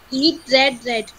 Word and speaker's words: read: तो बेटा रीड रीड इट, the spelling remains same, the pronunciation goes different in verb second form and verb third form.